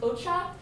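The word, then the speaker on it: お茶: This means tea, pronounced ocha, o, and then these here tell you that this is pronounced cha.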